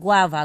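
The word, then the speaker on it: guava: हम गर्ड कहते हैं गवावा गवावा का मतलब होता है अमरूद गवावा इसको देखिए जी के बाद यू है ग्वा ग्वा इसको पढ़ना है गवावा यहां पे गम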